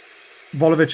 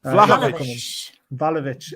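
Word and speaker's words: Vlahović: Volovic isn't coming, guys. I've been told. Who? Volovic. Volovic. Volovic. How I'll do you have a pronounce couple his of name? Volovic. Bill, Volovic. How you pronounce it? Vlahovic.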